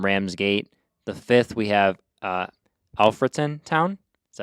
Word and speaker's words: Alfreton: The 5th we have Alfreton Town.